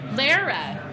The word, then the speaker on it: Lara: Lara. Okay, it's Lara. It does rhyme with Sarah.